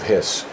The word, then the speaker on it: His: It's spelled like bundle of his, but it's pronounced Hiss, and so we spelled it that way.